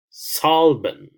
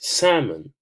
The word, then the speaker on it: salmon: for example all right Solomon Solomon because I don't know how to pronounce that word so I'll press here on text-to-speech salmon and it tells me here that it's salmon not Solomon so you know it's